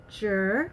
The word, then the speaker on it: chi: it a little slowly it's called jur which is spelled c-h-i sure yah yah is